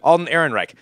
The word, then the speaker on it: Alden Ehrenreich: Alden Ehrenreich.